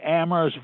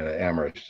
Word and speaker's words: Amherst: That aphorism referencing Amherst as the town where only the H is silent would have made no sense then, because it was a very silent town.